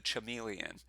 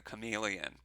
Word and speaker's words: chameleon: got another way and it's the way of the CH Emilien or if you want to pronounce it correctly the way of the chameleon and it says follow